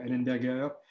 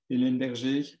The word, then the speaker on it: Ellenberger: Henri Limbergé, alors, il y a plusieurs manières de prononcer son nom parce que c'est une famille qui a essaimé le monde entier. On peut dire Ellenberger, Ellenberger, Ellenberger.